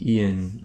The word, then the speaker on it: Ian: to remind people is Ian, I pronounce it Ian, I don't know if it's like I-O-N, but Ian, he was a hardcore vanilla raider.